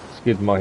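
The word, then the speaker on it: Skíðblaðnir: you don't so we're actually using the skid skidmer here that's how you say it um downside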